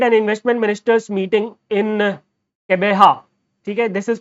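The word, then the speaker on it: Gqeberha: The G20 trade and investment ministers meeting in Kebeha. Okay, this is pronounced as Kebeha, right?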